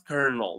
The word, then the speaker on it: colonel: It's pronounced as kernel, believe it or not.